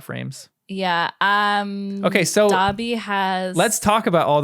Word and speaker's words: Dobby: have to contradict you we don't pronounce it Doby they pronounce it Dobby oh it's Dobby okay thank you so we'll